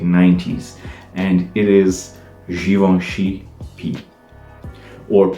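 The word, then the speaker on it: π: and it is givenchy p or pi but uh in french and also in portuguese this symbol it's p although i know it's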